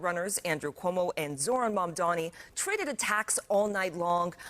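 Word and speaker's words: Mamdani: The name is Manni. M A M D A N I. You should learn how to say it.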